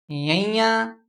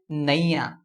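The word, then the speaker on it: ਞ: This is another letter which is a little tough to pronounce. This letter is, let me say it again, yanya, yanya, ya, ye. This was nganga, this was yanya. Some people also pronounce it as naya, this letter.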